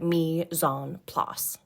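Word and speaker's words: mise en place: dining in French it's Mison PL to get kind of close you say it like meon PL for those who aren't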